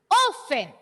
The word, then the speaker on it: often: e very good t is a silent letter here so we don't need to read it often often repeat often often